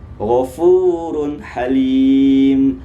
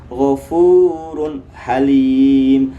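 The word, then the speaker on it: غَفُورٌ حَلِيمٌ: Jangan dibaca ghafurun halim. Ah, itu kurang tepat ya. Kenapa kurang tepat? Alasannya apa? Karena dhammatain, tanwin, tandanya dhammatain bertemu dengan huruf ha. Sedangkan ha itu merupakan salah satu huruf izhar. Apabila tanwin bertemu dengan salah satu huruf izhar, maka hukum bacaannya adalah jelas. Kalau sudah jelas, maka kasihlah jelas ya. Jangan didengung-dengungkan. Kemudian huruf yang ketiga itu adalah huruf kho.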